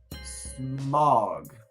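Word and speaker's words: Smaug: you mean red dragon I think it's pronounced SM of small and a of dog smog so smog like the word smog yeah uh the screens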